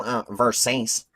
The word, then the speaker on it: Versace: Oh, my mom got it for me, but it's called Versace.